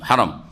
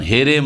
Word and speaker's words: হারাম: বলবেন হারাম বলবেন হারাম হারাম শুদ্ধ উচ্চারণ হেম নয় হেম শরীফ আল মসজিদুল হারাম তারপরে